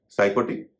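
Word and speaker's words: psychotic: साइकोटिक इसमें भी पी का उच्चारण नहीं हो रहा है।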